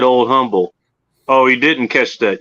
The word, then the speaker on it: Humble: of the skillet company it's it's not humble it's humble there's no the agent everyone around here calls it humble they don't call it humble the h is silent for some reason i